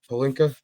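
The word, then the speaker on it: Pelinka: couple more picks but Rob pinka that's how you say it right pinka yep yes Rob pinka somehow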